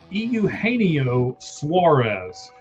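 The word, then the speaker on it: Eugenio Suárez: I'm going to help you pronounce his name for you. Euaneo Suarez.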